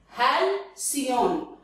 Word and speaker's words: halcyon: Check out the pronunciation. Halcyon. I am repeating. It is halcyon.